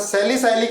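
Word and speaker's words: salicylic: Acid, note कर लो, सैलिसाइक्लिक acid, note करो, सैलिसाइलिक acid, spelling बताओ सैलिसाइलिक एसिड की, ठीक है या गलत है, सैलिसाइलिक एसिड, आईपीसी नेम लिखो सर, साइक्लिक, साइलिक है बेटा, साइलिक, साइक्लिक नहीं, सैलिसाइलिक एसिड है ना, सैलिसाइलिक एसिड, ठीक है।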